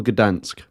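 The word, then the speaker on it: Gdańsk: that the University of is it dank or Gdansk in in in Polish it's G and in in German it's danzik okay so good answer will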